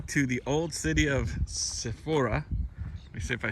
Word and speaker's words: Zippori: But that is the city of, keep saying the name wrong, Zippori.